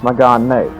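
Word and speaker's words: Mégane: So it's Megane. The A-E. So that's actually one of the cases where the pronunciations is a foreign.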